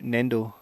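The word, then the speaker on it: 粘土: It's called Chi O Su Nendo.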